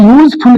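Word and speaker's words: useful: और ऐसा ही यूजफुल के लिए भी यहाँ पर या से प्रोनाउंसिएशन प्रारंभ होगा और ये इंग्लिश में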